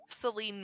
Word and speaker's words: Saline: I And guess it's kind of like Saline, Michigan. It's spelled like saline.